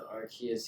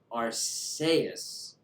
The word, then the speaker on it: Arceus: Japanese game and it's arseus in Japanese okay so I've been pronouncing it the way the creators pronounce it which is the way